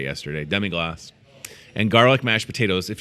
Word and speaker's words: demi-glace: He told me how to say it yesterday, demi-glace.